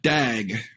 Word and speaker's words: DAG: for this and um people even um pronounce that dag right so a tag